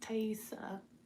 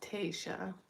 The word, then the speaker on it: Taiesaa: It's pronounced taiesaa. Like a tie? Like a tie. And E. Sa, like sa, dude. You know? Not Taisha. Nope. Wrong. There's 0 H in my name.